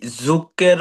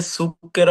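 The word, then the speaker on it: zucchero: এই যুকের এটা সুকের হবে যে যু এটা যুকের না এটা সুকের এটা হচ্ছে ইতালিয়ানরাও ভুল করে।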